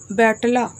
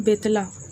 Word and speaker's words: बेतला: झारखंड में सिर्फ और सिर्फ बेतला, बैटला जो बोल सकते हो, लेकिन इसका शुद्ध उच्चारण है बेतला।